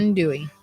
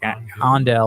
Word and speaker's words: andouille: Andouille. I was like andel or something like No, that. and I was saying andouille and got corrected by a Cajun.